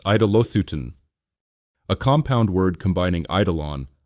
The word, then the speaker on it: Eidolothyton: Eidolothyton, pronounced Eidolothyton, a compound word combining eidolon, idol, with theo, to sacrifice.